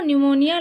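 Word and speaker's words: pneumonia: होता है ना, प्लूरो न्यूमोनिया लाइक ऑर्गेनिज्म, इसमें न्यूमोनिया में जो क्या है ना, पी साइलेंट होता है, ठीक है।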